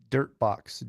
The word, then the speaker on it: Durtbox: It's Durtbox. Durtbox. Dirt DU spelled with a U.